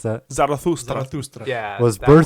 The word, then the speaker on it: Zarathustra: Thus, Zoroastrastra, anyone want to repronounce that? Zarathustra.